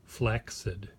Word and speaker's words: flaccid: flat flex I did flaccid people think that flaccid is how you pronounce flaccid but flaccid is actually pronounced flex it'd there's two c's together and the first C is a hard C which doesn't make sense